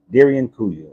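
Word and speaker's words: Derinkuyu: But the Darren Caillou, is it Kuwai? Kuwai. Kuyu. Darren Kuyu. Darian Kuyu. Exactly. That would be more of the pronunciation.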